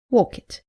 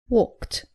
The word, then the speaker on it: walked: as you can imagine the most common mistake is pronouncing the IDI as it after all verbs look at some examples common mistake saying help it tis helped saying walk it it is walked not cough it but coughed not order it but